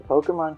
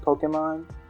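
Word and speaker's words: Pokémon: about how like um the voice director is constantly telling them like it's pokemon you can't say pokemon you can't say pokemon it's pokemon um and even i'm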